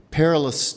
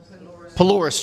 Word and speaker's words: Polaris: Um, Hercules Instant Shelter, Foundation North Lottery Grant, Lottery Community Grant Board, Four Winds Foundation, Perilous Trust. Did I say it right? Polaris Trust. Yes, thank you for correcting me.